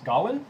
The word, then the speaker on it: Gawain: Also standing here is Gawain. Is that pronounced correctly?